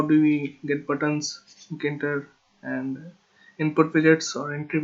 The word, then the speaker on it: Tkinter: Hello there, it is Anton Ghosh, and today we are talking about Tkinter. Yeah, the T is silent.